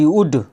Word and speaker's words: would: WOULD, वुड, यहाँ पे वुड पढ़ा जाएगा, उल्ड नहीं पढ़ा जाएगा, क्योंकि एल के बाद डी आया तो क्या हो गया, एल साइलेंट हो गया।